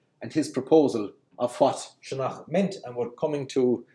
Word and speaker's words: Sionnach: Okay, so what Professor Stifter's proposal is that Old Irish Sionnach, which was stressed on the first syllable and would have had a long N, Sionnach, was that it comes from a proto-Celtic senu na, of course.